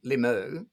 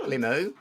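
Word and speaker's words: Limoux: I say Limu as if I know my French pronunciation, but I may well not do.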